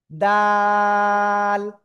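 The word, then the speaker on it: دال: এইযে দুই দাত না জিব্বার আগা। এই দুই দাতের গোড়ায় লাগান। লাগিয়ে উচ্চারণ করতে হবে। এক দুই তিন আলিফ টেনে পড়বো। দাল সবাই জোরে জোরে বলতে হবে।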